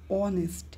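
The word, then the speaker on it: honest: উপরে এই নিয়ম অর্থাৎ এইচ এর উচ্চারণ যদি হর মতো হয় তাহলে এ হবে তাহলে এখানে দেখেন অনেস্ট অনেস্ট হচ্ছে এটার উচ্চারণ হচ্ছে অনেস্ট এখানে কিন্তু হয় মতো হচ্ছে না হ অনেস্ট হ অনেস্ট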